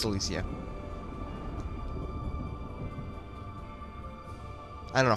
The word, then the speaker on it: Elysia: we okay open door Sky Town Alisia or Elise no it's elisia I don't know how